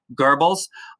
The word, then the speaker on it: Goebbels: i hear it pronounced there's no r in there but usually when you hear somebody say his name it's gerbils um this guy i